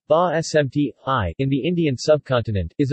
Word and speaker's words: basmati: basmati pronounced IPA bah SMT hi in the Indian subcontinent